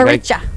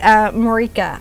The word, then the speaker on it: Maricha: So the doesn't think Maricha. She doesn't think I could pronounce her name, and I just did. It's the. It's very easy to pronounce. Well, I did used to say Marika.